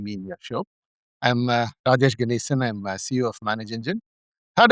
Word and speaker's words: Rajesh Ganesan: and his name is Rajesh Ganesan. If I mispronounce it, I apologize. Ganesan. Rajesh, correct me. How's it said? You did well, Alan. I'm Rajesh Ganesan. Rajesh Ganesan.